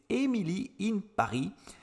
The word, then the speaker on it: Emily in Paris: vous l'avez deviné j'imagine c'est emilie in paris je le prononce à la française votre caste 100% français